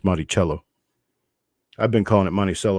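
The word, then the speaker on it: Monticello: large mint mark above the Dome of the monello or monello on the back I did learn that it's actually pronounced monello I've been calling it monell all my life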